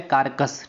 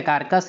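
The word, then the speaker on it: Caracas: और एक अंतिम आपको याद रखना है वेनेजुएला, वेरी इंपॉर्टेंट है, कारकस, ठीक है। कारकस या करकस, आप कुछ भी प्रोनाउंसिएशन।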